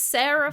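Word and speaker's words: Serah: i reveal for you guys at home it's sarah farren which is spelled s-e-r-a-h but i don't think that really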